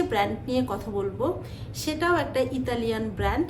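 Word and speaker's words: Nike: বানানটা যেখানেই আপনি দেখবেন সেখানেই উচ্চারণটা লুইস নয় উচ্চারণটা হবে লুই এবার যে ব্র্যান্ড নিয়ে কথা বলব সেটাও একটা ইতালিয়ান ব্র্যান্ড এবং শুরু হয়েছিল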